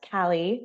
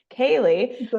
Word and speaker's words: Kali: with me Alicia bakam mck today I have Callie am I saying your name right I didn't even K Kaye I'm like oh I didn't even ask because I hate when people say my name wrong so Kaylee with us today and she is a therapist